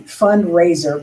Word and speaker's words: FundRazr: Fundraiser, but it's spelled FUNDRAZR, is also another option